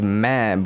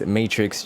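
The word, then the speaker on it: Mattrixx: producer is matrix and i know it's spelled m-a-t-t which a lot of think it's mad but it's matrix just with two t's and two x's because you know i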